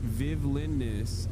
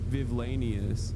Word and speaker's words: Vivlinus: Where it's pronounced Vivlinus, like the word villainous, not Vivlanius.